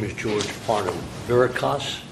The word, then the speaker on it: Verikas: Verikas, correct? Verikas. Verikas? Verikas. Verikas, pardon me. If I mispronounced that, it's not intentional.